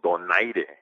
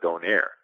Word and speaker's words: Donaire: places, where they're like, we are so glad that you pronounced Nonito Donaire instead of Donaire, you know? They're like, his name is Donaire, and we hate it when people don't say it correctly.